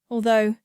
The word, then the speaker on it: although: sound two this sounds like no and Rhymes were slow the words to remember are although do Furlow thorough and the here's